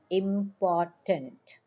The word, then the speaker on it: important: the word should be important R is silent students that's why R